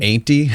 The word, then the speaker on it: Ainti: So it's spelled AINTI. Ainty?